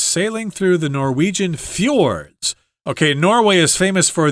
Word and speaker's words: fjord: Right, these Norwegian fjords, fjord is how that's pronounced.